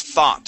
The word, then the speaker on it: thought: okay one last word this word is thought so the o u g makes an a sound try that please thought